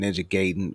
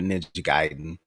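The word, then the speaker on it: Ninja Gaiden: or bothered was Ninja I'm going to pronounce it the best way I can ninja gayen probably ninja giden but um I was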